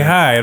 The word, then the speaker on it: Hyde: Hyde. Is that how we say it? Is that how we say it? I want you to pronounce for the people. That's how we say it. That's how we say Hyde.